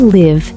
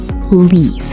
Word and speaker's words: live: Now say, I live in Bangladesh. I live in Bangladesh. Beautiful, Khadija. Now, a small pronunciation tip. The word live, say it like this. L-I-V. Live. Not leave.